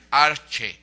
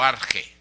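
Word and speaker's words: ἀρχή: strong en griego 746 que se pronuncia arche o arge arche que significa literalmente iniciación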